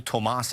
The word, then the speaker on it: Tomas: He pronounces his name Cole Tomas Allen.